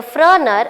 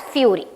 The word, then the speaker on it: Führer: said you earlier, Führer, Bruno commonly mispronounced the Führer as Fury.